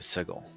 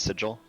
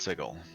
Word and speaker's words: Sigil: to plant shift to sigel it's pronounced sigil the city is pronounced sigil the item is pronounced